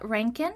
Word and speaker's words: Reintgen: We are welcoming Scott Reintgen.